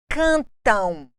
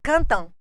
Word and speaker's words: cantam: falado na língua portuguesa dificilmente você vai ouvir uma pessoa dizer cantam cantam que o m seja o quê bilabial como acontece mamãe na primeira sílaba mamãe ninguém fala Cantão Cantão é um som nasal portanto nós temos um